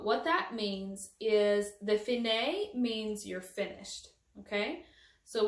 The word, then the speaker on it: fine: alfine means so what that means is the finae means you're finished okay so when you get it's spelled fine but it's pronounced finae so when